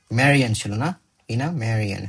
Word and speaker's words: Marian: statement text one in text one Marian that's how you pronounce Marion talks about Marian talks about talks